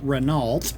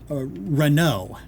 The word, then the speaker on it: Renault: the Renault truck which is evidently not how renal is pronounced it is actually pronounced uh spelled uh Reno re n o which of course I immediately